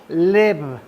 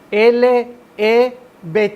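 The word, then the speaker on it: לב: La palabra se pronuncia Lev. L-E-V chica, Lev.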